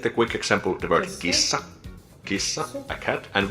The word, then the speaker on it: kissa: Kissa, a cat, and we pronounce it by just combining all the different unique sounds together. Something like kissa, kissa. We just have to prolong the S because it's double S.